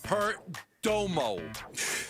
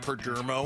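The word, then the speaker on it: Perdomo: I'm going with um Peromo. Not Pgermo.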